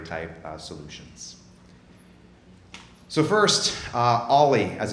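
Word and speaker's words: o11y: open source proprietary type solutions so first uh ollie as it's pronounced the letter o number one number one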